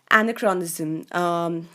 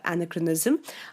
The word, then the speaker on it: anachronism: Anachronism, which is also, you can also pronounce this as anachronism, but this essentially means incongruity.